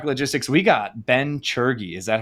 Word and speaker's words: Tschirgi: So, we got Ben Shurgy. Is that how you pronounce it? I took a big guess. Pretty close. That's pretty good. It's shy. It's like Fergie, but sure. Fergie. Fergie. Sherigy.